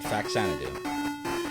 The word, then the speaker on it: Faxanadu: fanu it's the only way to say it faxanadu I've heard some people say fanad do while